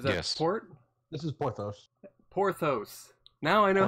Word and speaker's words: Porthuous: Porthous. Now I know how to pronounce it.